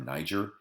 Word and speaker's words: Niger: The four major rivers of Africa, the Zambezi, the Congo, the Niger or Niger, and the Nile drain all of that tropical precipitation.